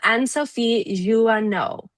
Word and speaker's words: Anne-Sophie Jouhanneau: Please welcome Anne-Sophie Jouhanneau. Did I pronounce that right?